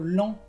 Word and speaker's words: lent: O también, por ejemplo, lent, que es lento, la T no se pronuncia.